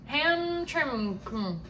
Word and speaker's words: Hamtramck: It's spelled there's even no worse. vowels except for the A. Hamtramck.